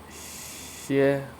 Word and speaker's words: 蝎: So scorpion is translated as xie, xie, xie, xie.